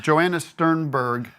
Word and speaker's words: Joanna Sternberg: We have Joanna Sternberg. Did I say that right? Yes, correct.